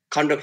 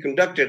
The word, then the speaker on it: conduct: and then conduct he conducted the meeting smoothly so there because of the because they are used as verbs they take the accent in the second syllables if they are used as nouns or adjectives they take